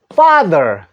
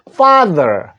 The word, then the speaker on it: father: 됩니다 다시 한번 아버지 father Apple 소리를 내주십시오 참 발음 어려운 발음입니다요 애플 소리와서 외워두십시오 father 아버지 father 자 그